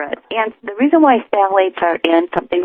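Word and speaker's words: phthalates: contains an ingredient called phalates. And I'll spell it because if people want to look for it, it's counterintuitive. It's t h t h a l a t e s. Sal phalates.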